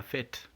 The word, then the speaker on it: fête: In the word la fête, we also get the air sound in fête.